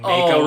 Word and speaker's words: Mako: But that's another pronunciation thing, like what they did with Final Fantasy between Mako and Mako.